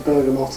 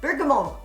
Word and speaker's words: bergamot: This is the fragrance now, with the addition of the bergamot as well. Bergamot. Bergolbligo. Bergamot. I don't think you pronounce the T, although I've heard the T.